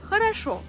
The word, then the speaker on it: хорошо: C'est pour ça qu'on dit хорошо. Хорошо. Хорошо. Хорошо. Comme tu peux le voir, cette règle, elle est très simple, il suffit de faire attention à la place de l'accent tonique.